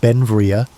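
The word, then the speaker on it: Beinn Bhreagh: Pronounced Benvia, Bel became an American citizen in 1882, but his name meaning beautiful mountain in Scottish Gaelic showed his Scottish heritage.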